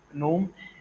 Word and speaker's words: GNOME: So that's why we have Genome, which is actually it's pronounced as GNOME, and its spelling is Genome.